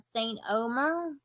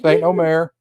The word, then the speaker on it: Saint Omer: Then we have Saint Omer. Hey, you pronounced it right. I did. Saint Omer.